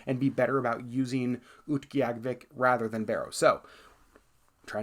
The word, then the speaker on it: Utqiagvik: And then Barrow, or more accurately pronounced now, Utqiagvik.